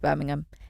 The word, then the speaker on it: Birmingham: And I know they say Birmingham, but I just can't say it. Birmingham? No. Birmingham. She was heading to Birmingham to see her dad. Thank you for saying it correctly.